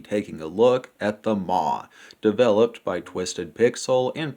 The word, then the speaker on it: Maw: Southern me pronounces it Maw, like the word for mom.